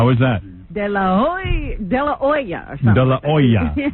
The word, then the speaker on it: De La Hoya: You have to say it the way it's pronounced in Mexico. How is that? De La Hoy de Laoya or something. de la oa silent etch.